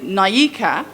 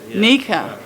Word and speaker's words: Nyika: red boxing with the david naika try again nika nika mika nika sorry david lieker david